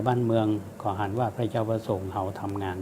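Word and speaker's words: พะเยา: ประโยชน์ ทั้ง ไฟ บ้าน เมือง ของ อ่าน ว่า พะ เยา วะ ส่ง เอา ทำ งาน ตรง นี้ ตรง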